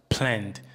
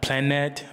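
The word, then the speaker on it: planned: E novamente nota aí a palavra planed. Not planed but planed. Porque o é é mudo.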